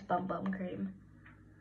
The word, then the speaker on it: Bum Bum Cream: agree with me, but I think it's Bum Bum Cream.